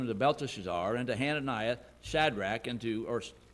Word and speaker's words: Shadrach: Belteshazzar, and to Hananiah Shadrach, and to, or Shadrach's generally how we pronounce it, but if you look at the diacritical mark, it's Shadrach, and to Mishael of Meshach, and to Azariah of Abednego.